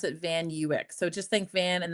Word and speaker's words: Van Ewyk: If it was my mother-in-law, she would say Van Awick. If it was my husband's auntie, it would say Van Vanwick. But, uh, my husband and I pronounce it Van Uick.